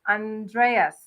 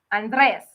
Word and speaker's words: Andrés: from nova scotia and so i always say andreas like e-a-s but it's andreas like who's someone famous the name on js